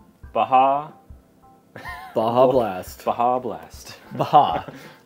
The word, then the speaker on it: Baja: Baja Blast Baja Blast Baja yeah you got put the emphasis on that first syllable there Baja Blast hard Seltzer on